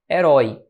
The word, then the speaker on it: herói: Veja, onde é que está a sílaba tônica de herói? Se você analisar comigo, a sílaba tônica está aqui, ó. Herói. Nota aqui, então, que isso aqui é uma oxítona.